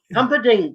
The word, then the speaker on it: Humperdinck: Humperdinck, that's it. Yeah, Humperdinck Dinkerbonk.